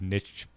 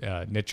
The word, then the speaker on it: niche: Kyle these kind of Niche Niche or Niche depending on how you like to pronounce it uh pics things like